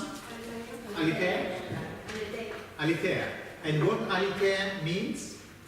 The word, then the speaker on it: aletheia: How do you pronounce it? Aletheia?